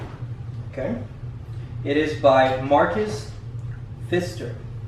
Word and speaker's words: Pfister: It is by Marcus Pfister. That P right there is silent.